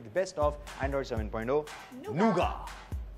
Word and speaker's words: Nougat: Nougat, that's correct. A lot of people mispronounce it, but it's called Nougat.